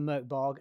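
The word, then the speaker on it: Mörk Borg: write a mkb game that is how you pronounce it I've been wanting to write something for Merk bog and it was only recently several months ago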